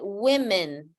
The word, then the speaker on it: women: So the correct form to pronounce it is not to say woman, but women. Women, women.